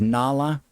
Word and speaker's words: Nala: is right here now I pronounce it as Nala because of the Lion King the character Nala in that uh I know someone excuse me I know of someone that uh likes to pronounce it nla and that's perfectly fine not a problem but I prefer Nala because you know we